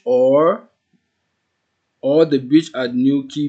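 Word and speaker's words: Newquay: was calling this place new qu well that is the wrong pronunciation it's actually pronounced as new key so the name of this town is called new key if you can delete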